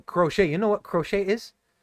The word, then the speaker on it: crochet: Am I pronouncing it right? Nah, crochet.